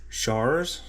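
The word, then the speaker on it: Shars: It's made by Chars. I think that's how you say it. S H A R S.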